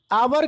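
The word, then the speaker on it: hour: ठीक है, यहाँ पे एच एक साइलेंट वर्ड है। ठीक है, एच एक साइलेंट लेटर है।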